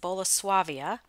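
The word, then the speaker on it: Bolesławiec: this is polish pottery i believe it's pronounced bola suavia peacock dinner plate beautiful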